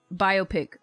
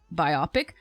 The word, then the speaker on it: biopic: 10 Mac appreciate it is that how Americans pronounce biopic biopic okay here's the thing I used to say biopic and then people would be like huh what so then I and I would hear people say biopic so now I say